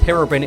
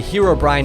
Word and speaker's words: Herobrine: like on works is if you pronounced Herobrin in a way that rhymes with the illegal substance that's referenced in this joke if you say Herobrine overdose the joke doesn't make any sense and Notch would never